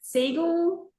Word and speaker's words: Siegel: Because I seagull.